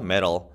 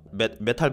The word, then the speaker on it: metal: metal. 메탈이라고 하지 않고 metal이라고 하는 좀 약간 발음이 틀립니다. 그죠? enclosure 다 감싸고 있어요. 그죠? 메탈 바디인 거죠.